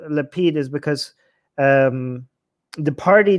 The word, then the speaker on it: Lapid: biggest problem with because his name rhymes with the name of his party and that's why it's